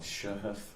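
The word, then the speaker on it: Shaghaf: It was a the the name is not going to be how it's spelled, but it's called Shahghaf Coffee.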